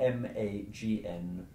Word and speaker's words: magnus: The Latin for big, for example, is spelled M-A-G-N-U-S. G-N in Latin was pronounced as if it were N-G-N. The Latin word that means big is magnus.